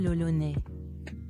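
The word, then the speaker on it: L'Olonnais: François Lolonais. That's how you say it in French.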